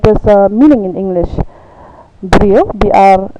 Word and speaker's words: brio: Brio, it's usually pronounced as B-R-E-A-W in Khasi, and the meaning is man, marad, animal, kio, pot, die, tree, and so on.